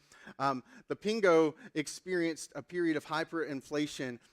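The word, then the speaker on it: Pengő: 1946 around the currency I think it's the Pingo is how you say it the Pingo experienced a period of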